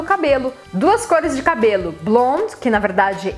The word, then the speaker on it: blonde: Blonde, que na verdade em francês a gente não fala esse D se for no masculino, então eu falo blond, e se for no feminino, blonde. E em inglês a gente sempre pronuncia o D, blonde.